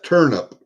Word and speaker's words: Turnup: That's Turnip. And you know why her name is Turnip? And it's spelled Turnup. Turnip. Not IP, UP. Why? Because she turned up at my doorstep when she was about